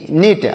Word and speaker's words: knit: ध्यान से देखिएगा, KNIT नीट। और नीट मतलब क्या होता है? नीट का मतलब होता है बुनना। नीट मतलब बुनना। KNIT, यहाँ पर भी के साइलेंट लिखा गया, मतलब हम इसको नहीं पढ़ेंगे।